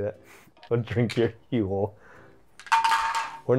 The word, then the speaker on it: Huel: Huel? Rhymes with fuel, then that's why they did it.